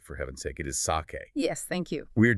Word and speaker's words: sake: It is pronounced sake. Not sake, like for heaven's sake, it is sake.